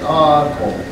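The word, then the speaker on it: Haaku: on a reservation at Aaco. Aaco is how you say Acoma Pueblo in English, or it sounds English, but Aaco is the native way to say Acoma Pueblo.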